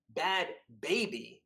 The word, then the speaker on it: Bhad Bhabie: my mind in prep for this apparently it's pronounced bad baby yeah i've been would you anyway well i